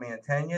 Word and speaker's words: Mantegna: From Bologna, Mantegna.